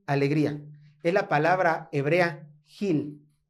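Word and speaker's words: גיל: La palabra aquí, alegría, es la palabra hebrea Gil. Gil. Esta sí se pronuncia Gil.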